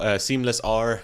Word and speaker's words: Seamlessr: You can search it up, called Seamlessr. The R is silent, actually.